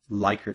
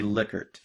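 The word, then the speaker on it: Likert: thing is you might have heard it called lyer scale which is very common to call it that but it's actually liquer so it's pronounced liquor instead of lyker and it was developed by Rines liquor in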